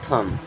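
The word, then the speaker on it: thumb: नहीं जाएगा, ठीक है, बट लिखा जाएगा। इसे पढ़ते हैं केवल थम।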